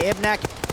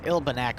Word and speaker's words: Ilbanek: Mihai spotted by Ibnek and gets picked off by Ib. Ooh. It's Ilbanek, but I always pronounce it wrong. I never pronounce the L.